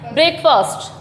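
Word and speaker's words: breakfast: अ का साउंड जो है इसमें से रिमूव कर दिया जाता है, ओनली क्या हो जाता है ये, ब्रेकफास्ट, ब्रेकफास्ट, ब्रेकफास्ट।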